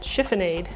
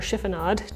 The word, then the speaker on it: chiffonade: This is a technique called chiffonade, or chiffonade, depending on how you pronounce it.